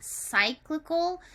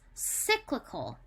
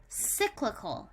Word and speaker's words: cyclical: be a little bit harder because it's not cyclical but it's pronounced cyclical cyclical so say that with me cyclical yeah it's